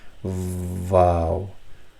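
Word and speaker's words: واو: So vav has this v sound when it is in the beginning of the word, like wal asr, wallah, vav, wallah. But if it's in the middle of the sentence, of the word somewhere, then it's oo sound, as in you.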